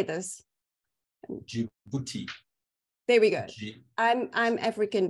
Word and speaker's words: Djibouti: Djibouti.